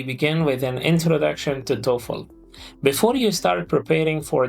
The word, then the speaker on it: TOEFL: We pronounce it like TOEFL. TOEFL.